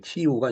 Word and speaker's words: 키이우: 체르노빌 북서쪽으로 18km, 그다음에 우크라이나와 벨라루스 국경에서 16km, 키이우 북쪽으로 대략 100km에 위치를 하고 있다. 키이우가 이제 그 우크라이나의 수도죠. 옛날엔 키예프라고 그랬었습니다. 이 키예프는 아마 영어 발음이고 이제 키이우가 이제 현지 발음이죠.